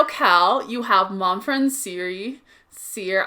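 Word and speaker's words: Cere: you have mom friend Seer. I called her Siri for the first half of the game until I found out that her name was Seer. Nobody pronounced it, so I didn't know.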